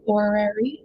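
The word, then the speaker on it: horary: So when I look at the timing like this guy, sometimes we call it an orary which is spelled h o r a r y.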